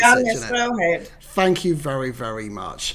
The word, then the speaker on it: Stråhed: How do I pronounce it? Stråhed.